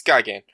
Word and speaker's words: Gigan: Godzilla versus Gyan G I don't know how to pronounce that it's Gyan um in my opinion